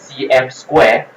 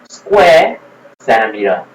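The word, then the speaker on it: cm²: Okay, it's not pronounced as cm square, okay? Or centime square. It's actually square cm.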